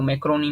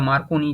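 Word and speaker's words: Marconi: Radio किसने, तो मैक्रोनी ने, या मार्कोनी जिसको बोलते हैं।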